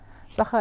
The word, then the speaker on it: Sacher: Sacher is my last name. It's like a Do you want to spell that? Yeah, it's like the chocolate cake from the Hotel Sacher, Vienna.